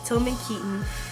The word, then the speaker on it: Tilmon Keaton: the store owner who didn't know how to pronounce, but it's Tilmon Keaton, and his book is coming out in February, so you guys look out for that. Thanks for watching. Tilmon Keaton, Urban Hype, Believe Hype.